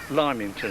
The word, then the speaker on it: Lymington: The Lymington, it's spelled L-Y-M-I-N-G, Lymington Terrace. We always call it Lemon.